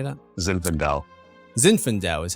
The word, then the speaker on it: Zinfandel: Zinfandel is how you say that.